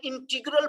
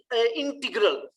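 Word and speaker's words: integral: अब इसमें एक चीज देखेंगे, जो लफ्ज है इसको मैंने पढ़ा है इंटीग्रल, इसकी दो प्रोनाउंसिएशन है, इंटीग्रल भी है और इंटेग्रल भी है। आप दोनों में से कोई भी प्रोनाउंसिएशन यूज कर सकते हैं।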